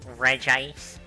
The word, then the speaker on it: Regice: there we are sorry against Reggie ice or rejoice it's typical image still do um excuse me it is pronounced Regice damn I thought you